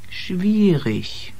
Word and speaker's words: schwierig: In combination with T or P or CH, you get the SH sound. Staufen. Spanien. Staatlich. Schwierig.